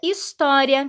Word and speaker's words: história: no início da palavra a letra h vem sempre seguida de vogal e não é pronunciada porque não representa som algum olha só os exemplos que nós temos a palavra história tem um sonzinho Due